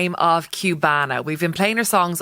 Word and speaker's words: Qbanaa: and my Cuban culture so obviously Cubana is for kubana but the way that Irish people would say a Cuban it's like pronounce it kind of like with a Q so you know Cubana